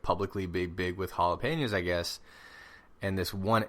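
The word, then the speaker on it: jalapeño: So, I guess jalapenos are not a normal thing in Australia.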